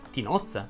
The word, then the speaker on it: tinozza: oz e ozzy 8 la o che sta prima delle tue z andrebbe pronunciata aperta infatti dovresti dire tinozza maritozzo bozza abbozzo nozze cozza